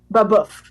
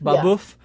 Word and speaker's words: Babeuf: Babeuf. Babeuf. Yeah. And what was the conspiracy of equals? Yeah, so for people who've never heard of him before, Gratius or Francois Noël Babeuf, which was his real name, he's primarily known